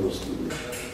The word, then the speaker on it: Roskilde: que Copula relativamente hablando, Roskilde, se dice así, se pronuncia Roskilde.